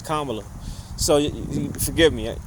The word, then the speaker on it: Kamala: I don't mean to be disrespectful, but it's just, it's weird because I'm so used to calling her Kamala, but then, the pronunciation is Kamala.